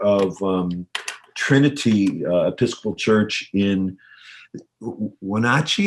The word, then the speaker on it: Wenatchee: Matt is the pastor of Trinity Episcopal Church in Wenatchee. It feels like there should be another syllable in there, but is that how you say it? It's pretty good. Wenatchee. Wenatchee.